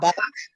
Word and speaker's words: Bach: Bach, Bach. Bach, like the musician, Okay.